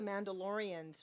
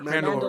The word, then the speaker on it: Mandalore: Right, and I So- think most of the Mandalorians, most of the guys that are those, they're wearing the Mando armor. They are from Mandaloria, right? Is that how you pronounce it? Mandalore. Mandalore, yeah.